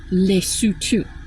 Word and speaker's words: Lesotho: and I am going to I lived in Lutu. Our our our convicted felon president has absolutely no idea how to pronounce that. It is spelled L E S O T H O. It is pronounced leutu.